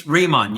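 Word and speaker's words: Riman: So what's your role in the in in how do you pronounce it? Reman it's remon.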